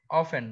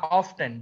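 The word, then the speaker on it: often: দিয়ে occasionally R অফ অফেন বা অফটেন যেটাই বলো একটা আমেরিকান উচ্চারণ আরেকটা ব্রিটিশ অফটেন বললেও কারেক্ট অফেন বললেও কারেক্ট অকেশনালি আর হচ্ছে তোমার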